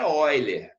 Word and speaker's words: Euler: Quando a gente fala Euler, a gente está brasileirando o nome dele. O nome dele mesmo era Euler. A pronúncia certa em russo é Euler.